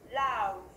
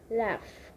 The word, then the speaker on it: laugh: G H nhưng mà cái đuôi này mình có đọc là F luôn nha.